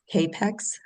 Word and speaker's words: capex: Oh, can a customer choose class as capex? Is that how you say it? Cap pex.